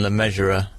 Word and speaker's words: Le Mesurier: Well, I think they pronounce it how you pronounce it, like John Le Measurer.